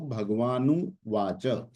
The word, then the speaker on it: भगवानुवाच: भगवान उवाच, उवाच यानी बोलना, भगवान और उवाच जब मिला तो भगवानुवाच।